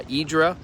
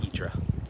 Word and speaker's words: Hydra: So, uh, Idra and pronounced uh, that way by the Greeks or close to it. I'm sure I'm butchering it, but spelled at least in the English alphabet, H Y R A. uh in the Greek alphabet it's actually I think only four letters um and then pronounced itra or something like that.